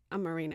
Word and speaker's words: Amarena: Amarena.